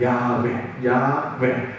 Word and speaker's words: 야훼: 그래서 이게 이 원래 본 발음은 야훼입니다. 야훼.